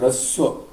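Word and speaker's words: ह्रस्व: It is pronounced raswa.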